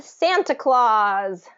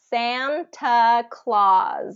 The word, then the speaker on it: Santa Claus: uh character here um santa claw claw kind of like claws on a on an animal Claus Santa Claus Santa Claus and we're going to stress that for syllable all right um and just